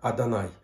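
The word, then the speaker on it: אדני: хуй йод в вов читается как yahoo но произносится как а данной никакого любого и здесь нет здесь мы читаем как адонай встречаем такие так их решаем господу то есть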